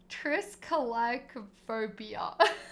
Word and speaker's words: Triskaidekaphobia: Triskaidekaphobia. Frisky Decaphobia. There you go. Good pronunciation.